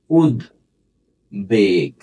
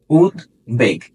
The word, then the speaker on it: উদ্বেগ: পারবে দেখো তো তাহলে এটা হচ্ছে উদ বেগ উদ্বেগ উদ্বেগ ঠিক আছে আচ্ছা তাহলে এটা